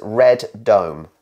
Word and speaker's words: Radom: madam you're saying radon it's like random but with no end you're saying radom uh on here it says red Dome so redone oh I'm quite close it's red redone that's what he's saying